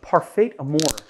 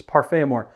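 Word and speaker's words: parfait amour: of an ounce of parfait amore parfait amores actually you know people are gonna really bust me for that pronunciation it's parfamore uh it is so parfaia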